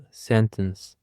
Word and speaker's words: sentence: For the first word, we have sentence. Sentence. The stress is on the first syllable, sentence.